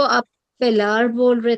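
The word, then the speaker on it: pallor: Parallel को आप पैलार बोल रहे थे।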